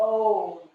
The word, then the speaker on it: om: And as you exhale, the om. It's the A-U-M sound. So ah on the inhale, the U-M on the exhale.